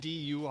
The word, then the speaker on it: Anduril: First I ask how to spell it. Anduril.